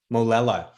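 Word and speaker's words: Molella: Molela.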